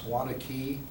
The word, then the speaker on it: Waunakee: I'm here tonight to properly pronounce the word that identifies our community. That's Waunakee. It's not Waunakee and it's not White.